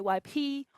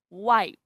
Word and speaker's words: wipe: the word guest, okay, and the vowel E in the word plate or in the verb wipe. Okay, we don't say wipe he or plate he. No, it's plate. Okay, wipe.